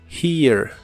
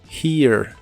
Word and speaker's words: here: here que significa aquí la H se pronuncia como una J suave here here y usaremos la palabra